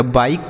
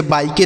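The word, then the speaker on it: bike: तो ये हो गया बाइक। क्या हो गया? बाइक। इसे बाईके नहीं पढ़ेंगे। बाइक पढ़ेंगे। ठीक है? तो किसी भी शब्द के लास्ट में इ रहेगा तो इसका उच्चारण नहीं करेंगे।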